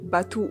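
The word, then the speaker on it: Bàttu: grève débat tout nous qu'on m'a dit que ça se prononcer bateau même si ça s'écrit battu de aminata sow fall aminata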